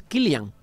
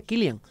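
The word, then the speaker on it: Cillian: no es por cierto San es kilan porque es es un nombre Irlandés creo que se pronuncia kilan kilan morp es un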